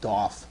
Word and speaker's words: DOF: depth of focus uh which we usually abbreviate do and we sometimes say doof and sometimes we pronounce it do although I'm not that kind of a person I say do defocus specifically defocus is